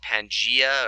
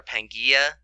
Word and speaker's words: Pangaea: had a place called Pangea or Pangaea it's pronounced a couple different ways but basically all of